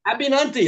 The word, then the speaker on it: Abinanti: abinanti is the sorry I mangled your name abinanti it's a simple name abinanti there you go you got it okay when